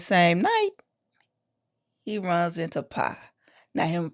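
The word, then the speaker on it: Phy: It's spelled P H Y but pronounced P I E.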